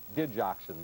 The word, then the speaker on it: digoxin: Secondly, uh he is being treated in low-key fashion with the drug digoxin, by the way, is the way it's pronounced.